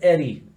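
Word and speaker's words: Ehre: Blut und how do you pronounce that? Like Blut and Eri.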